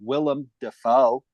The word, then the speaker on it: Willem Dafoe: and stars a cast of, as I know, Willem Dafoe now, as I know how to pronounce it properly, and Bill Skarsgård is also,